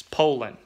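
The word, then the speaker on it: Poulan: know you can go watch the commercial it's polling Pio sounds like poll and Poland and you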